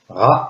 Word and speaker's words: ra: Variante ra er tchenou. Nous avons vu que le mot jour se traduit par héros. Mais pour préciser la notion de chaque jour, le mot se prononcera ra.